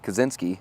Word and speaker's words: Kaczynski: Kaczynski, I believe is how you say his last name. I fact checked that with him when he first started.